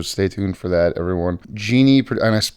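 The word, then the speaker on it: Djini: next episode so stay tuned for that everyone Genie and I pronounced it correctly that is correct yeah Genie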